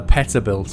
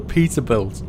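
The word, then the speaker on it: Peterbilt: I forgot to mention I called it the Peta belt and I had so so many messages I'm sorry it's called The Peter build okay my pronunciation is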